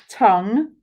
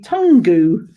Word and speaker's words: tongue: only it's one syllable tongue it's uh hmm three sounds okay so that's actually one sound isn't it so one two three sounds but six letters and actually if you try to do that phonetically it would be tangu wouldn't it okay and remember I